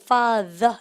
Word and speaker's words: father: 얘는 뭐냐면요. 아버지 할 때 father 이겁니다. 발음을 갖다 father. 그죠? the 발음이에요.